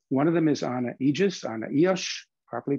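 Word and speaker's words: Ijjas: with them uh one of them is ana aegis properly pronounced who is the first it was the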